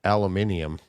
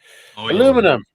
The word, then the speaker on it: aluminium: You and your damn aluminium. Aluminum. You said it right. You sound so American.